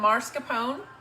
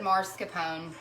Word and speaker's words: mascarpone: um i had some mascarpone mascarpone mascarpone potato potato i don't know what you say it's spelled mascarpone i don't know for some reason i've always said um i've always said marscapone derrick wants to what